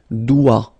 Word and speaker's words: doigt: Okay, so don't be frightened by this G because basically you don't pronounce it and then the final T you don't pronounce it. So the only thing you get to pronounce is this combination of three letters, sorry, here. D, O, I, okay? O, I, it's wa and then D, doigt.